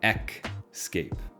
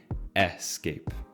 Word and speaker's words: escape: I don't know why but I used to pronounce this word like ecape so like if we wanted to spell this word you would put maybe a c in it so I used to say all the time Escape Escape Escape but that's not the right pronunciation it should be escape this next mistake is